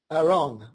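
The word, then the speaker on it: ארון: that the Hebrew word for the ark is pronounced Aron which is spelled a r o n and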